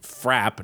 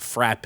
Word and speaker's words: frappe: milkshake as a frap, that's pronounced frap, not frappe. I will say that is maybe the like most meaningless thing that makes me so mad, so mad, is hearing people call frap a frappy or a frappe.